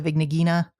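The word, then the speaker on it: Vigna-Ghina: i'm sorry okay okay i believe in the dubs at least they usually pronounce it uh the vignegina i have not actually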